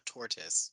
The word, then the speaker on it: tortoise: He's saying it like Blastoise, like the Pokemon Blastoise, which is technically a turtle. That's why it's named Blastoise.